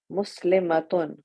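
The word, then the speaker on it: مسلمة: In pronunciation, the only difference between the singular and the plural is the shortness and length of a. Muslimatun, muslimatun. Excellent.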